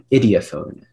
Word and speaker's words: idiophone: Idiophone. Idiophone. Are there any alternate pronunciations? That is the only one I have.